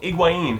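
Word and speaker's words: Higuaín: ingin feder Rico iguin to say it right his name is federo iguin and he's Brothers with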